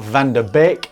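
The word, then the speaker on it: van de Beek: Last time we covered it on Van der Beek, as I learned that's how you pronounce it.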